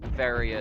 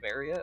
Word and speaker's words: Varia: It has ended up creating the the accidental fandom war of how do you pronounce is it varia or is it varia? Obviously correct answer is is varia but I say varia